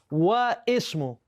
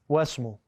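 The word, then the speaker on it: واسم: Not wa ismu. It's read wasmu.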